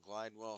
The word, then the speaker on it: Glidewell: Glidewell spelled like it sounds. G L I D E W E L L from the face off.